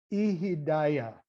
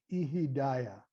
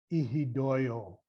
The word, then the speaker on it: ihidaya: The word is ihidaya, I-H-I, D as in dog, A-Y-A, ihidaya. And of course, in the Western Syriac, ihidoyo.